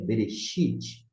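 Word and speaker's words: בְּרֵאשִׁית: Mas aqui nós temos um som de Shin, de chá, xé, xi, xó, chu, que a gente pronuncia Bereshit, não é Bereshit, e sim Shi.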